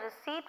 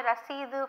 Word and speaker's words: receipt: of Dean Selina okay don't say I want my Reseda for my annual subscription here it is receipt okay I want the receipt for my annual subscription okay okay dr.